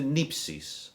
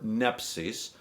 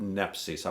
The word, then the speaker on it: nepsis: able to shoot straight this corresponds to nypsis or nepsis watchfulness i pronounce it nepsi so i'm going to stick with nepsis watchfulness is practice where